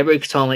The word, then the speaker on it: Rukatama: and I spotted, and I might butcher this, in which case I do apologise, but Rukatama? Yeah, Rukatama, yeah, that's how you pronounce it.